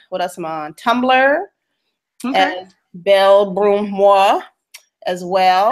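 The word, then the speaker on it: Belle Brun Moi: beautifully Brown me um I'm on Twitter as B Brun Mah so that's the first for beautifully Brown me am on what else am on Tumblr B broom Mo as well how do you how do you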